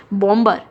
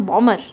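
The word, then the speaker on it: bomber: बॉम्बर, सो यहाँ पे हम बॉमर, सो बॉमर वर्ड यूज़ किया, बॉम्बर वर्ड यूज़ नहीं किया।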